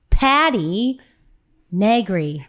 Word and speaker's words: Patti Negri: The legendary Patti Negri.